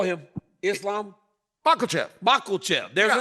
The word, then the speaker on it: Makhachev: Makhachev. Oh, Makhachev.